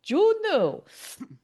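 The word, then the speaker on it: Juneau: He's like, "In case you don't know how to pronounce the name of the city, Juno."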